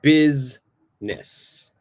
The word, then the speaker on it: business: and this one here this I is silent I don't say busy I don't say business it's busness business all right con